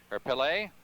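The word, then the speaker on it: Pelé: it to his countryman Pele Pele as it's more properly pronounced 26 12 left to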